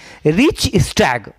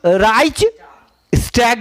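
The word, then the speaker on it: Reichstag: तो जर्मनी में कहा जाता है रिच स्टैग, मतलब इसका जर्मन प्रोनाउंसिएशन है तो अलग है, तो इसको कहते हैं हम राइच स्टैग या अलग अलग है,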